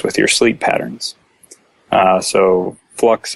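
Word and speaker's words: f.lux: a piece of software called flux I think it's pronounced that way it's F period luxe and I think it's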